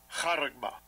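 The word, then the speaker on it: χάραγμα: Karagma. Karagma. Karagma, okay. That's how it's pronounced.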